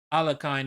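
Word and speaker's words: Alekhine: there will be ahead it's an anglicized version of the uh former world champion in the 1920s alakain is the anglicized version but yeah you don't pronounce it alakain in Russian you're gonna say allergen or something oh absolutely but it's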